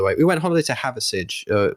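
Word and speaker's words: Hathersage: We went holiday to Haversidge, which is spelt like Hather and then Sage, Sage.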